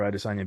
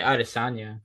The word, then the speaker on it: Adesanya: How do you Mm-hmm. say his name for real? Because I always hear people say it all different. I'd say Adesanya. Adesanya.